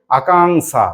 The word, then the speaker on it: আকাঙ্ক্ষা: মধ্যন্য সই আকার আকাঙ্ক্ষা এটাও হিন্দি রকম উচ্চারণ করো দেখি আকাঙ্ক্ষা বলো আকাঙ্ক্ষা আকাঙ্ক্ষা আকাঙ্ক্ষা দেখো সব পেয়ে যাবে উ ক পেটকাটা মধ্যান